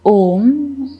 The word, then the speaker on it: Om: In order to chant Om, we will make the use of three syllables, A, U, and M.